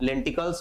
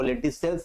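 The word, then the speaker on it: lenticels: Very very important, यानी stem में लेंटिल sales पाए जाते हैं या लेंटिकल्स पाए जाते हैं, जिसको लेंटिसेल्स हम ज्यादा अच्छा प्रोनाउंस करते हैं।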